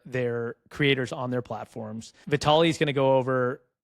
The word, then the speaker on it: Vitalii: the beginning, but I'm going to try to pronounce it. You're going to correct me when I get it wrong, but it's Vitali. Yes, perfect. Vitali.